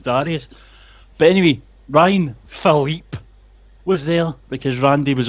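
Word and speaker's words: Phillippe: had his backstage segment with Ryan Philippe, which is how you say his name, for some reason they keep introducing him as Ryan Philippe. It's Philippe. And I think it's because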